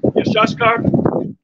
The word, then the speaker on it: Issachar: name Issachar is Yeshashakar or Salak. How you say it? Yeshashkar, the Hebrew word, all right, which means he is higher.